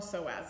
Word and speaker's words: psoas: just notice how long so as is like so has the silent P so P s OAS